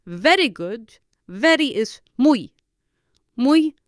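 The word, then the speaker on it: muy: to make it very good very is Mu mu spelled mu u y so it is very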